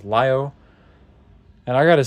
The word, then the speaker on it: Lio: Evolution Nemesis Lio Convoy technically it'd be Leo but I pronounce it how the Japanese pronounce it which is Lio and I got to